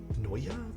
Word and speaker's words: Neo: think Neo 75 or qk 65 V2 no Noya is how you pronounce new real or that particular word really